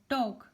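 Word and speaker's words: talk: इसी तरह हाफ, यहाँ पे एल साइलेंट है और टॉक, यहाँ पे एल साइलेंट है।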